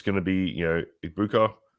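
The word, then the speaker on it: Egbuka: I I think it's it's going to be, you know, Ibuka, Ibuka, Ibuka, what how you pronounce his name. Ibuka. Yep.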